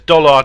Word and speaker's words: Dollard: Oh, Steve Mumbling says Dollard, not Pollard.